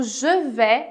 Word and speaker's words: je vais: Aqui em je vais commencer, o je vais é importante você saber que em francês as vogais AI sempre vão fazer o som de E.